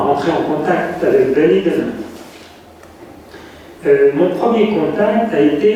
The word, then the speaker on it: Dunedin: Dunedin, alors on prononce bien comme cela.